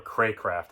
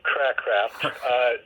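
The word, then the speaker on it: Cracraft: Oh, wait, I think now that you mentioned the first name, I think I remember Craycraft, I think. Craycraft, there you go. That sounds better than Crackcraft.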